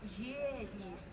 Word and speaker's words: Єдність: Єдність. Ми попробуємо тільки з наголосом на перше.